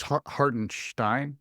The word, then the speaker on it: Hartenstein: chance to really play by the way it's hartenstein yes sorry sorry not gonna say his name